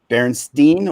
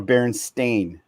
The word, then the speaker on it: Berenstain: like the Berenstein bears what you guys remember Berenstein or Berenstain I always said when I was a kid everybody else pronounced it berenstain bears when I was a